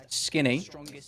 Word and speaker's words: Skinny: I go by Skinny, pronounced Skinny, as in the thing that I am not.